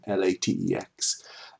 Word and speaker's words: LaTeX: Okay, so that is the language that we write in, LaTeX, and it's pronounced LaTeX.